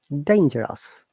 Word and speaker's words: dangerous: And the G is soft G.